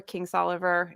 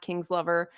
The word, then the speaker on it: Kingsolver: Anyway, so so I there's some obvious ones, I think, like Barbara Kingsolver, not Kingslover, Stephen Copperhead.